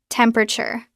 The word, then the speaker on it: temperature: First sound temp. Second sound pra pr. Third sound chir together. Temperature. Temperature.